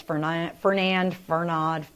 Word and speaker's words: Fernand: It's going to be mispronounced, I think, by many different people. It's Fernand.